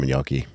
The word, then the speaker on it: gnocchi: Damn, I've really wanted some gnocchi all week.